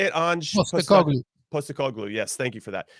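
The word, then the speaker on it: Postecoglou: feel like uh how do you say it post a call glue yes thank you for that he he uh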